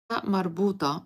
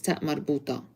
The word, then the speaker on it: ta marbuta: So if you put it in a word that is, or if it's in a word that is followed by an adjective, you do not pronounce it. But the regular sound for ta marbuta is a t, t. So if I'm saying Medina Jamila, beautiful city, I do not pronounce the ta marbuta.